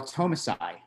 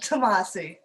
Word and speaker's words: Tomasi: Okay, our next artist is Tomasai. Did I pronounce that correctly? If I didn't, I'm sorry if I put No, you did not. Tomasi.